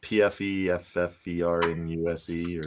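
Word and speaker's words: Pfeffernüsse: So Spencer, it starts with a P, and it's very German. So it's like PFEFFERNUSE or something like that. The P is silent, like in pterodactyl and swimming.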